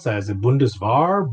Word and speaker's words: Bundeswehr: asking how do you spell how do you pronounce that is it bundesvar bundesware it's bundeswehr like weapon bundes is like the name of